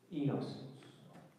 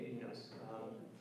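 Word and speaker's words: oenos: What is the Greek word? Enos. Yeah, Enos. The base spell it O-E-N-O-S. O-E-N-O-S. Most of the spellings in the United States, they just drop the O because it doesn't really roll off the tongue the same way.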